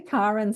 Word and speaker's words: Karen: It's actually KAren Swain, the way I pronounce her name.